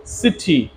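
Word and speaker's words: city: সিআইটিওয়াই সিটি, সিটি, আমরা এটাকে কিটি বলতে পারি না, সিআইটিওয়াই সিটি। CYCLE সাইকেল, আমরা এটাকে কাইকেল বলতে পারি না, CY সাইকেল।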